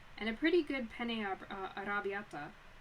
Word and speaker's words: arrabbiata: a pretty good penne arrabbiata. I can only pronounce that like the American non-Italian way, which is kind of funny. Like, because I am Italian. So, arrabbiata.